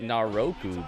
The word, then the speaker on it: Naraku: And now all He pronounces it Naraku, but there's no O there.